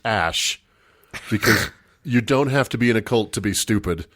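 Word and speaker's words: X Æ A-Xii: Apparently, it's pronounced Ash, because you don't have to be in a cult to be stupid.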